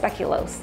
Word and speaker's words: speculoos: feel like they taste almost the same speculos speculoose speculos these are from Trader Joe's speculoose speculation they're spelled o o with the o-o so I don't I heard it pronounced speculos anyways you can use these cookies too okay